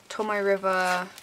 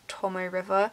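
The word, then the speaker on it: Tomoe River: packaging so these are tommy river journal inserts i think that's how it's said i've heard it been said a few different ways but i'm pretty sure it's tomo river it also came with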